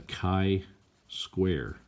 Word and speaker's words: chi-square: says x squared - test that's called the chi-square test is how you say that so the